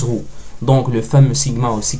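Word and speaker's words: rhô: le P qu'on connaî mais ça se prononce rou donc le fameux Sigma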